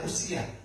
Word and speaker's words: Uzia: Bacanya UIA karena nanti ee sama dengan usia. Tapi ini nama orang Uia pakai Z. Usia ya.